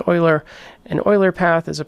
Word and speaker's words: Euler: Now an Euler path is, and that's the correct pronunciation, it's not Euler, it's Euler.